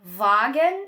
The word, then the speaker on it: Wagen: O W, que já é uma coisa que muita gente deve saber, tem som de V. Por exemplo, na palavra wagen ou vassa, o S tem som